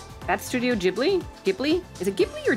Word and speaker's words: Ghibli: are going back and four coming forward ghibli pronounced ghibli okay thank you oh my god grave